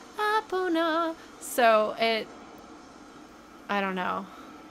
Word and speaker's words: Epona: Epona's song, and it's Epona, Epona. So it, I don't know. That's how I've always said it. Where the three syllables are kind of equally weighted.